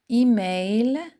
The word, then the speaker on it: emails: Le S c'est une marque du pluriel. Elle ne se prononce pas. Répète avec moi lentement. Je vérifie mes email.